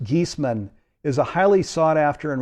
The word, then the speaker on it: Giesemann: me formally introduce her Suzanne geesman and it's pronounced geesman is a highly sought-after and respected medium who